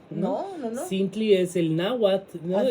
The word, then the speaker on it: náhuatl: Es náhuatl.